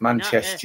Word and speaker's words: Manchester: He misses the T-E-R. It's Manchester United.